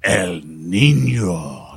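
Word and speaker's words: El Niño: the midst of a hurricane like El Nino El Nino you gotta say it like that Oh mean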